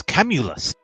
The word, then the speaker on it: Camulus: of camels and us know it's camulus camels and nut that's what